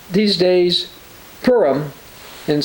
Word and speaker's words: Purim: So they called these days Purim, and so you'll hear it called Purim. But as I say, when I looked at this, it's actually pronounced Purim, after the name Pur, or casting the lots.